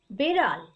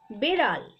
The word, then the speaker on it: বিড়াল: বেড়াল। এটা কি? বেড়াল। বিড়াল। এটার উচ্চারণ বিড়াল।